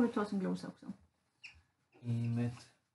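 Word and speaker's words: אמת: Emet. Emet, betoningen på sista, om det inte står något annat.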